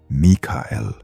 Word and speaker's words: Michael: You say it like a name. Michael, 2 soft syllables, a boy in your neighborhood, a man who fixes your roof. It is not a name. In the language it came from, it is a question. Mikael, who is like God.